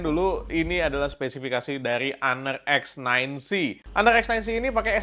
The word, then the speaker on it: Honor: Ini bacanya Honor ya, kayak bahasa Inggrisnya honor, bukan honor gitu ya.